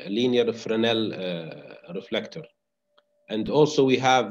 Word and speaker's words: Fresnel: it's written fresnel here but usually it is pronounced linear fresnel reflector and also we have the parabolic trough